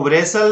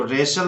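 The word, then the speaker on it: wrestle: जैसे इसको वराइस्ट नहीं बोलना है, इसको रिस्ट बोलना है, इसको वरेसल नहीं बोलना है, इसको रेशल बोलना है। यहाँ पे T भी साइलेंट है।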